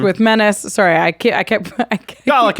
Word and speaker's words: Dalek: Sorry, I kept Dalek is fine. Dalek? They call themselves Daleks. Dalek. They always pronounce it like that.